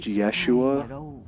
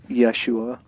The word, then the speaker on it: Yeshua: in the same way Jesus's name was most likely pronounced Yeshua of course I actually